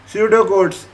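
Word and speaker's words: pseudocode: स्यूडो codes, ये क्या है? स्यूडो कोड्स, इनको आप प्रोनाउंस करेंगे स्यूडो कोड।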